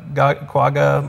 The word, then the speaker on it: quagga: a specific muscle and i believe it's pronounced guaga you know i i'm not sure on that i would say that's close quagga quagga yeah okay nice perfect they found this